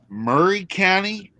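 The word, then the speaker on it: Maury County: grew up is a county that is called Murray County when it is spelled Mory County and then we have a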